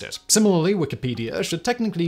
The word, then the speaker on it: Wikipedia: Similarly, Wikipedia should technically be pronounced Wikipedia, not Wikipedia. This is if we're going to follow the lead of the original creator of the first wiki, Howard Cunningham, when he applied the Hawaiian word pronounced wiki, meaning quick, to his bit of